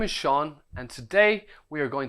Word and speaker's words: Sean: My name is Sean, that's spelled S-E-A-N. Sean.